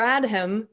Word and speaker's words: Adham: Maybe, yeah, it's a silent H. It's the silent H. So Adam or Adham, either way, he said, hey, Miss Casey and Mr.